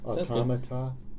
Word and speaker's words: automata: And I don't even know how to pronounce that word. I want to say... I think that's correct. Is that right? Yeah, automata?